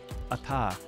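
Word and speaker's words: אתה: When you have a Daghesh Forte, you double up the consonants. It splits up the sounds in terms of syllabification. At, ta, at, ta. But when you pronounce it, you simply combine it, ata.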